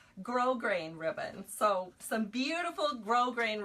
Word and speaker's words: grosgrain: This is gross grain. Or not gross grain. That's what I called it for years because I didn't know how to say it, but it's actually grosgrain ribbon.